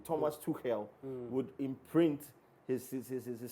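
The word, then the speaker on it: Tuchel: wish and hope that thomas to hell i'm trying to pronounce the german way thomas to hell would imprint his is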